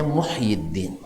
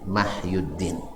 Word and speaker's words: Muhyiddin: pokerwow kami ada Jawa mahyudin aslinya sebenarnya Muhyiddin Muhyiddin tapi orang tua kita dulu ya mungkin salah salah baca dibacanya mahyudin Nah ya Wow Cara